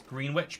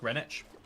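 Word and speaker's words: Greenwich: from the Pillager Outpost why is green witch pronounced Grenich again every single pronunciation um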